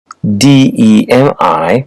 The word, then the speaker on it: demi: deemphasize debilitate distress prefix d e m i pronounced Demi meaning half examples Demi urge